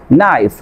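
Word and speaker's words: knife: তারপর করেন silent letter খেই এর পরে এন থাকলে, খেই এর পরে যদি এন থাকে তাহলে আপনার কি হবে, আপনার খেই লেটারটি সাইলেন্ট থাকবে। এখানে খেয়াল করেন নাইফ, নলেজ, নক, এখানে প্রতিটি ওয়ার্ডের ভিতরে আপনার কি আছে, খে এর পরে এন আছে, এই জন্য আপনার খেই লেটারটি সাইলেন্ট থাকছে।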